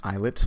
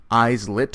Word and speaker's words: islet: that there are many isolate cells it's actually pronounced eyelet but i'm mispronouncing it just to let you know how it's spelled eyes lit or eyelet cells that exist and sit in